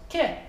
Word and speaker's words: que: So Q-U-E is pronounced ke.